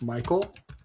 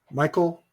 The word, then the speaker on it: Michael: D and then oil Michael Doyle then three phonetically. So, how about cycle for Michael and Royal for Doyle?